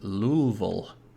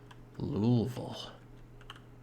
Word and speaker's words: Louisville: built anything there yet but a fun american pronunciation of louisville is louisville louisville why real maintenance acceleration i'm gonna take this